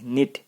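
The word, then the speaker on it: knit: 6 aunt माया singular है, वॉस लगाओ, वॉस निट को के साइलेंट यानी किनिट नहीं निट, निट को आईएनजी लगा दो, नीटिंग A sweater for मी इन the afternoon.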